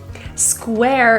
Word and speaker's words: square: Square is a difficult word, 3 consonants together. We're going to start with an SK, sk, and round your lips.